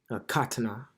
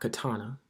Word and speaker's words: katana: just learned this recently the word Katana is actually pronounced Katana not Katana all right so Katana